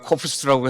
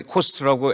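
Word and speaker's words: KOFST: 저희가 코프스라고 했는데 코스트라고 F를 묵음으로 하기로 했습니다.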